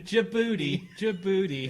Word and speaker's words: Djibouti: Djibouti. Any place with a silent D has got to be the worst place. Djibouti is the name.